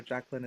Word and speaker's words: Jacqueline: Just remember, Jacqueline is the French pronunciation, so CQU.